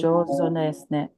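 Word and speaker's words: 上手ですね: Josne.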